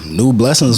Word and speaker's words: Nueblessings: Nueblessings on all platforms.